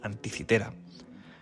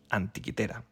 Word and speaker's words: Antikythera: de disclaimer, quería deciros que aunque en español es más común llamar a la isla griega y al mecanismo Anticitera, yo prefiero llamar a ambos Antiquitera, ya que me resultan más próxima a su pronunciación original.